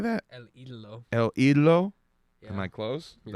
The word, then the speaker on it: El Idolo: El Idolo.